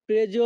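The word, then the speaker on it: preso: বাক্যের ইতালিয়ান ভাষা হবে অপ্রেজ অপ্রেজ এখানে প্রেজো বানানের উচ্চারণ হবে পি আর ই প্রে এস ও এর উচ্চারণ হবে জো অজো যখনই আমরা ইতালিয়ান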